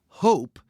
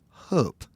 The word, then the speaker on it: Hóp: Norwegians or Swedes might pronounce this word closer to hope.